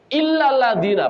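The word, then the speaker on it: إلا الذين: Illal ladzina. Pakai tasdid atau tidak? Pakai. Kecuali orang yang enggak merugi itu orang yang beriman. Antum bacanya enggak pakai tasdid.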